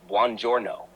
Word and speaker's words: buongiorno: Good morning, buongiorno, pronounced buongiorno.